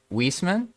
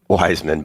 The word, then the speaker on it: Wiseman: Leftaf and Nunn and Wiesman. Did I pronounce that right this time? Oh, Wiseman, but close enough. Wiseman. Oh no, Wiseman. Okay, so literally like wise, like you're a man who's wise.